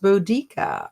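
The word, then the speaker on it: Boudica: think Jason Bourne Boda oh budika aha is pronounced bodika on the audio book the word comes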